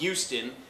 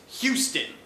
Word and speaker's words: Houston: and it's not Spanish so you don't not pronounce the age it's not Euston it's Houston okay period point-blank trim richardson number three draft